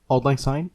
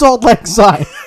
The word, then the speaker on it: Auld Lang Syne: Mom, who sings Auld Lang Syne? You know what? I'm gonna look it up because I never. Oh, it's that's the Scots pronunciation of it. I guess it comes from Scots.